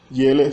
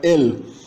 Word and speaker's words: el: suntem, voi suntetze, iei, iele sunt. Observa que os pronomes começam com e, esse e é pronunciado como ie. Então não é eu, é eu. Não é el, é iel, iea, ela.